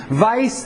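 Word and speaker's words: Weiss: German so the V the W is pronounced a V vice and Schweitzer that Jesus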